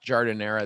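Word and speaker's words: giardiniera: and sandwich kits and butcher boxes and hot jardin era that's how you say it the famous chicago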